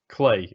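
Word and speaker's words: Klei: way no play entertainment clay it rhymes with play that's really good all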